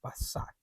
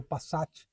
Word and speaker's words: Passat: volante bem próprio né passar passar é a pronúncia né original aqui virou Passat clássico com a a nossa pronúncia e outro detalhe interessantíssimo